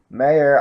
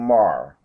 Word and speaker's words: Mayer: Mayer, I say, is German Irish because if I were pronouncing it like my Irish forebears, I would be saying Mar.